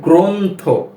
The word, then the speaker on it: গ্রন্থ: এরপর শব্দ রয়েছে গ্রন্থ গ্র এভাবে পড়া হচ্ছে যে গ্র এর সাথে একটি ওকার রয়েছে কেন কেননা এই শব্দটির প্রথম বর্ণের সাথে রফলা রয়েছে এজন্য এই গ র ফলার সাথে এর উচ্চারণটা এরূপ মনে হচ্ছে যে ওকার রয়েছে বা ওকারান্তে উচ্চারণ হচ্ছে যেমন গ্রন্থ গ্রন্থ গ